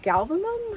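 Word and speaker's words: Galvalume: But that has not been the case because I accidentally bought a material called galvanum, I think is how they say it. Not galvanized, because I thought they were saying the word wrong.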